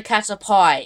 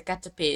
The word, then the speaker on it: Caterpie: Don't fucking stop in the middle of highways, and please learn the pronunciation of the fucking Pokemon. Simple as. It's not a Caterpie, it's a Caterpie.